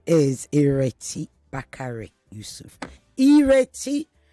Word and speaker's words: Ireti: Ireti, pronounced or spelled with an I, pronounced as an E. Ireti.